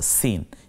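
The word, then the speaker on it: س: এরপরে হলো সিন, একটু সিসি আওয়াজ, অর্থাৎ সাইকেলের পাম্প ছেড়ে দিলে বা প্রেশার কুকারে যেমন একটু উচ্চারণ এভাবে হয়, তো সিনটা উচ্চারণ করতে গিয়ে এভাবে একটু দুই দাঁতের মাঝখান দিয়ে বাতাসটা বেরিয়ে যাবে, সিন, ব্যাস।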